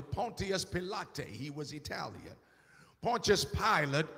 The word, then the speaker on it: Pontius Pilate: That while Jesus was coming in from the west to Jerusalem, Pontius Pilate, or as it is pronounced properly, Pontius Pilate, he was Italian.